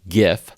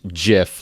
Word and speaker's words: GIF: sticker which says it's pronounced gif with a hard g like gift or you could pick this one which i believe to be the incorrect one which says it's pronounced jiff like the peanut butter